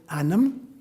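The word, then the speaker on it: ainm: name in Gaelic is anam, and the word for soul in Gaelic is onum. They're almost identical. One is spelled A-I-N-M, anam is my name.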